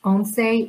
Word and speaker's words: once: the spanish speakers o n c e is pronounced onsei it means 11 and there are examples in